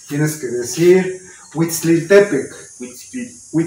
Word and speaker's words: Huitzilopochtli: Y ya, pero lo tienes que decir así rapidito y acentuarlo en la penúltima sílaba. Tienes que decir Huitzilopochtli. Y aquí Huitzilopochtli.